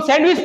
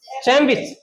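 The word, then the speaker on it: sandwich: जैसे हां इसको हम सैंडविच पढ़ते हैं। लेकिन करेक्ट उच्चारण क्या होता है? चैन विच। चैन विच समझ गए आप? क्योंकि डी के बाद क्या आ गया? डब्ल्यू चैन न आधा है। चैन चैन विच समझ गए?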